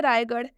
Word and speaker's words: रायगढ़: स्थान का नाम है आर के बाद से, स्थान का नाम है रायगढ़ और इसमें आर के बाद से एच आ रहा है तो इसलिए आर एच का उच्चारण क्या हो जाएगा, ढ हो जाएगा, रायगढ़।